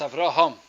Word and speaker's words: Avraham: Rama Sri Lanka - it's pronounced after home but many times when it's pronounced in English its Avram I'll remove it whatever sort of yeah the H gets lost understand it shouldn't that's right so it's Avraham then the pak'ma'ra continues